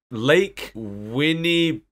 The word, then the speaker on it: Winnipesaukee: But Greg tells us the relevant clues, which are that it's in New England, that it's got Lake Winnipesaukee. Do you know how to pronounce that?